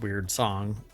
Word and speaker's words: Wyrdsong: The plan was to woo further talent and investors with the trailer and build Weird Song, pronounced Weird Song.